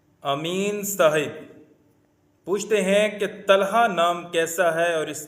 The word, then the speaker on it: طلحہ: امین صاحب پوچھتے ہیں کہ طلحہ نام کیسا ہے اور اس کے کیا معنی ہیں؟ طلحہ طوا کے ساتھ عربی کا لفظ ہے اور